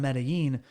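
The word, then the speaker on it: Medellín: Well, because the Paisas, which are people from Medellin, they pronounce their L's, which is a Y sound in Spanish, with a J sound. So they refer to it as Medellin, and I just through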